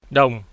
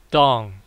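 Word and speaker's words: đồng: dollar is worth twenty two thousand seven hundred and ten down not dong in Vietnamese it is pronounced down down the name of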